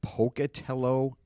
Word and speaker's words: Pocatello: He is the museum director for the Museum of Clean in Pocatello, Idaho. Am I saying it right? Pocatello? You are. Most people don't, but that's very good.